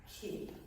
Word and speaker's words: Ki: it's called K uh it's spelled Ki but it's pronounced key ke okay so Prana